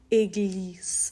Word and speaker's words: église: Okay, and the next one is une église. Again, this has our little phonics letter in there, so it's an A sound at the start, so it's une église, and this is the French word for a church.